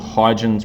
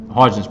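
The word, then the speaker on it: Huygens: want to look it up there's something called hydrogen's principle i don't know if i'm spelling it pronouncing it chronicle it correctly it is spelled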